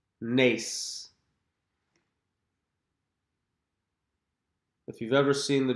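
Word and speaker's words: נס: Nace. Nace.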